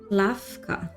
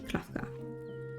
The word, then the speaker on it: Klavka: Oh my god, I just realized I read her name wrong. It's Klavka. Okay, Klavka.